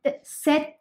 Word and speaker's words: cet: you use uh set set there is no difference in the pronunciation of this set then the set both are same okay now some uh